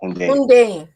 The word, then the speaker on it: Hundeyin: It's Hun. So basically, think of it as Hoon. So Hun, then Day, then In. Very simple. Hundeyin.